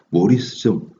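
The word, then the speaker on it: Maurice: 이 마우리우스, 요거는 그냥 실제 발음으로는 모리스죠.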